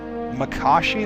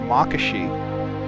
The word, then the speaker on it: Makashi: Today we, as in I, will be discussing and describing the second form of Jedi lightsaber combat, Makashi or Makashi. Bunch of different ways of pronouncing it.